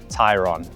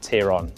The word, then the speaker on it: Tayron: And yes, that's right, I pronounced it correctly, Tayron, not Tayron, like you might think.